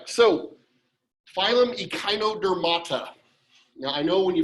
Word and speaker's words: echinodermata: this is like chimera it's just a k sound instead of ch okay so it's not ichinodermida what it means in